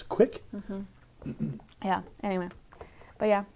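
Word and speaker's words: kveik: Apparently it rhymes with quake. Quake? I don't know. My Norwegian grandmother is probably rolling over in her grave. But I think I read that it's pronounced quick. I have no idea. I think that's what I remember it being pronounced as, quick.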